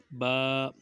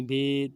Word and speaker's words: ب: لکھا ہوا ہوتا ہے حروف مفردات کو تجوید و قرأت کے مطابق عربی لہجہ میں ادا، اردو تلفظ سے پرہیز کریں، یعنی بے، تے، ثے، ہے، خے، توئیں، زوئیں وغیرہ ہرگز نہ پڑھیں، بلکہ با، تا، ثا، حا، خا، طو، ظا پڑھیں۔ تو اسی طرح جب با